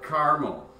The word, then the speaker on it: caramel: But is it caramel or caramel? It is caramel. There are 3 syllables in caramel.